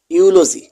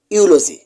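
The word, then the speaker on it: eulogy: ইউ এল ওজি ওয়াই ইউলজি। এখানে শব্দ দুটিতেই শব্দের শুরুতে ই এবং পরে ইউ থাকায় ই এর উচ্চারণ সাইলেন্ট থাকবে। কোন প্রকার ই এর উচ্চারণ হবে না। যেমন ইউরোপ ইউলজি এখানে কিন্তু ই এর উচ্চারণ হয় নাই।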